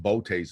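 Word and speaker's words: Boötes: the name is from another nationality and it's pronounced bote's boy void they discovered that i think in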